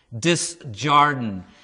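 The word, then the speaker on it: Desjardins: in the film okay i always had a hard time pronouncing the last name because it's french and i used to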